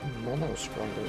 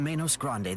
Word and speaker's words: Menos Grande: That's how it's actually pronounced, but Manos Grande.